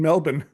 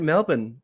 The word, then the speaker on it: Melbourne: in Melbourne. Oh. Oh, you said it right, Melbourne. Everyone's been saying Melbourne.